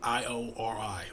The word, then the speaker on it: Iori: pronounce his name wall it's like I iori like ori that that character he knew